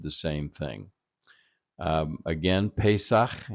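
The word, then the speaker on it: Pesach: same thing um again pesak is the Hebrew pronunciation and uh it it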